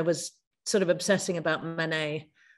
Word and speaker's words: Manet: sort of obsessing about Manet, always pronounce it wrong. Here they say Manet, which also isn't the right French way, but Manet, as we always say in England.